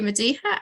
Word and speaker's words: Madihah: walking music and art so over to you mediha and looking forward to hearing what you have to say and I hope it pronounced your name correctly yeah no absolutely perfectly